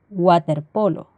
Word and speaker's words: waterpolo: se lee como una que sándwich sandwich o waterpolo el otro caso son las palabras de origen